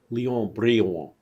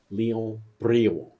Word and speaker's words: Léon Brillouin: Léon Brillouin, I think that's how you pronounce his name. Léon Brillouin. It's French, but he was an American.